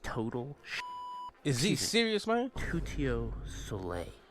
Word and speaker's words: Tuttio Soleil: Tutio sole, which is how you say that in French.